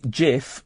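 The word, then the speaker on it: Cif: Well, you know that in Turkish, if a word is written C-I-F, it's actually pronounced Jif. The C is pronounced as a G.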